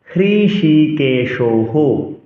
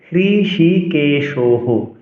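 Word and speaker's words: হৃষীকেশঃ: এজন্য সজবাচ এ মুক্ত কৃষিকেশহ বলছি এব মুক্ত কৃষি কেশহ কৃষিকেশ বলা যাবে না কৃষিকেশ বলতে হবে কৃষিকেশহ এখানে কিন্তু বিসর্গ নেই। তারপরেও আমি হ উচ্চারণ করলাম।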